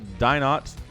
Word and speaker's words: DinoT: say it differently, but DinoT is what we're going to roll with here. I really want to say Dino because that's like the French pronunciation of those letters, but not French, man. He's Chilean.